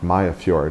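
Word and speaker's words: Mariager Fjord: Mayafjord is how they pronounce that word. You just drop all the consonants.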